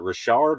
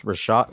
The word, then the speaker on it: Rashad: spelled his name wrong there um is it richard or rashad that spell that right um it's uh it's rashad rashad i think i i don't think no